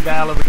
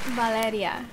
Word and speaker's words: Valeria: Just say your name, because I want to say Valerie, but that's not your name. It's Valeria. Valeria. Yes. Did I say it right? Yes. Valeria. I don't know how to roll my tongue like that.